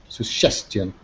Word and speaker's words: suggestion: say it right suggestion suggestion okay that's it not Sue but s suggestion suggestion good that's it okay